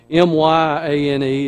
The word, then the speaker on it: Myane: It is spelled M-Y-A-N-E. It's not the M-A-Y. It's not Maine. It's Myane.